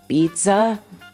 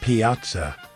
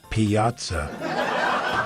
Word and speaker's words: Piazza: How do you say pizza? No, honey, it's Piazza. Piazza.